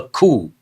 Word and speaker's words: coup: Janta, a military group that takes control of a government after a coup. Here the letter P is silent. How do you pronounce this? Coup.